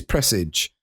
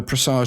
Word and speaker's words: Presage: And then we've got our exotic missions, the newest, Presage. I actually Googled this, how to pronounce Presage. It is Presage, even though Presage sounds a bit more kind of majestic, doesn't it?